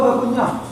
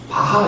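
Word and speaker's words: Bach: 새바치 뭐요 박 예 우린 바하 이렇게 배웠죠 근데 요즘은 바하 그런 사람보다는 거의 바 그러더라고 독일어 발음이가이 어쨌든 요한 세바스찬 다가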